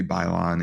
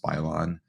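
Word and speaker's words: 摆烂: different name but basically bylon in chinese and i should have mentioned this when mike was on the episode he could have corrected us i think it's pronounced pylon but it means let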